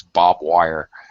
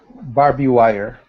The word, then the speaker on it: barbed wire: The ED sounds like just a D, not an extra syllable. So it's a little bit challenging. Again, we got RBD, 3 consonants in a row.